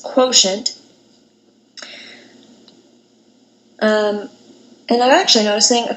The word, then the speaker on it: quotient: to multiply for division this word quotient is kind of weird doesn't really sound the way you'd expect it again the way this is pronounced is quotient and I'm actually noticing